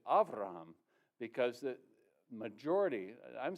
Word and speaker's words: Avraham: Now, to add one little more wrinkle to the cause is that his name in Hebrew is not Abraham, which would be normal in that pronunciation. It's actually Avraham, because the majority, I'm